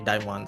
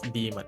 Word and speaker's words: Daemon: And I think a lot of my Indonesian friends also call me Daimon, so it's really okay. Yeah. But if you wanna be, canon to the pronunciation, then it's demon.